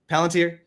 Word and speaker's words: Palantir: Oh yeah, tomorrow we're going to be talking about Palantir, the company, Palantir.